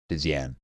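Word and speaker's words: Dzyan: It's spelled DZ Yan. Dian.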